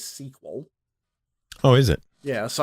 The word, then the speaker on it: SQL: my my sequel server I am told that the correct pronunciation of SQL is sequel oh is it yeah